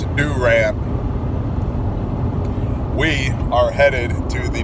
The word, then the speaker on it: Durant: And if you say Durant, you're saying it wrong. It's Durant.